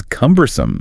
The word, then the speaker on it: cumbersome: Next one they cover is cumbersome. Cumbersome. K-U-M-bersome. Stress on the first syllable there. K-U-M-bersome.